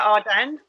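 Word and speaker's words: Ardern: Number 5, Jacinda Arden. Is that how you pronounce her surname? Yeah, New Zealand. Arden, yeah.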